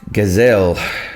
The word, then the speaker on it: Gazelle: Pronounced Gazelle.